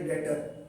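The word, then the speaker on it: debtor: पंजाब में, तो ये डेटर। बी साइलेंट नहीं करते, बी साइलेंट रहेगा, बी का उच्चारण नहीं करते। क्या पढ़ेंगे? डेटर।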